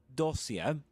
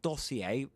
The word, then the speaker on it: dossier: You will say you can say dossier. But dossier is another pronunciation. Dossier. Dossier. And in American English, dossier.